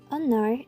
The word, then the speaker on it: honor: in fact in her the letter H is silent into our Anar which is pronounced as honor instead of Honor because